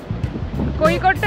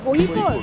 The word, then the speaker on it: Kozhikode: কোহিকোডটা একদম ওপরের দিকে, মানে এখান থেকে ব্যাঙ্গালোরটা একটু কাছে, আর ভার্কালাটা একদম নিচের দিকে। ওটা ফ্রিজ ম্যাগনেট নিতে হবে, আই লাভ কোজে করে। প্রোনাউন্সিয়েশনটা কি? কোহিকোড।